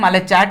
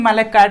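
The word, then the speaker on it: malachite: चलो तो ये क्या है, मैलेचैट यहाँ पे बोल सकते हैं या फिर मैलेकैट।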